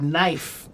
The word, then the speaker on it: knife: So, just like the word knife, we pronounce it without the K now, but originally the K sound was pronounced.